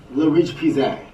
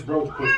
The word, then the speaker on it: La Roche-Posay: But how do we pronounce it? La Roche-Posay. The name correctly. Case in point. Y'all want something that's really good for your face? Get you some of this roast pussy.